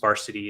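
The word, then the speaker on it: Varcity: Varsity uh yeah just varsity is the name of the company and they spell it v-a-r-c-i-t-y weird yeah it's a weird spelling but it's Varsity um and it has kind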